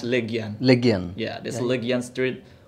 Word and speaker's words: Legian: It's actually pronounced Legian.